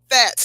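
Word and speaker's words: Phatz: They can be reached on Instagram at Fats. Now, Fats is spelled P-H-A-Z, not F-A-T, but P-H-A-T-Z clothing at Instagram.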